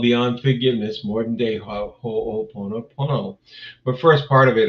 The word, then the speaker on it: Ho'oponopono: It was a 2-hour class called Beyond Forgiveness, more than day Ho'oponopono. But first part of it, of course, first part of that class was to teach people how to say it. Ho'oponopono.